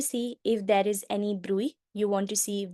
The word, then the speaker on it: bruit: has been called as bruit. A lot of different pronunciations, not really sure how the correct pronunciation is. My professor said it's a bruit, so I'm going to call it that.